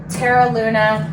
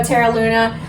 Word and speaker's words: Terra Luna: Um, you can see here is Terra Luna. Yes, I said it wrong in the clip before, so my apologies. It's still confusing to me. But here you go, Teral Luna.